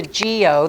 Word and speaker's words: guyot: the top there called gos it looks like guyot but it's a Gio that's how you pronounce it if it comes above sea level